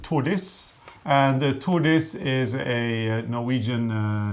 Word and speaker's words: Tordis: because that will help you remember how to pronounce them. So this one here is called Tordis. And Tordis is a Norwegian name. It's a woman's name, or Scandinavian name anyway. So Tordis, woman's name.